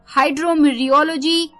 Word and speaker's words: hydrometeorology: हाइड्रोमीरियोलॉजी HYDROMETEOROLOGY, टी इसमें silent है, हाइड्रोमीरियोलॉजी।